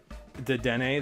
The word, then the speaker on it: Dedenne: Dedenne, that's how you say it.